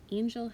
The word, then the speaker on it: angel: on angle and angel angel has a soft g followed by the e l angle has the hard g followed by the l e so those obviously have